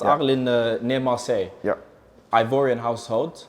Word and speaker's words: Arles: Is that how it's pronounced? Yeah. Arles near Marseille.